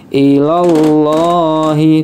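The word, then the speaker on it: إِلَى اللّٰهِ: 4 sampai 5 harakat Inna ilallahi bacanya ilallahi Ya ini tidak dibaca Alif juga tidak dibaca ya ya langsung masuk ke lafaz lam jalalah karena depannya fathah maka dibaca tebal atau tafkhim ilallahi tidak ilallah tapi ilallahiah gitu ya Ribun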